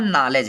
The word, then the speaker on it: knowledge: अगला देखेंगे, के बाद यन हो तो के साइलेंट होता है।